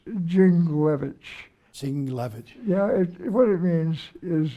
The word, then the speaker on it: Dingell: I won't even try, John, to pronounce the original family name. Well, it's not that hard. It's Dingell. Dingell.